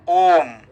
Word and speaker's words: Om: Actually, Om means there are 3 syllables are there. O and Akara uchyate Krishna sarva lokaika nayaka ukara prakriti radha makara jiva vachakaha. Sanskrit. Om means Krishna, who is the supreme personality of Godhead.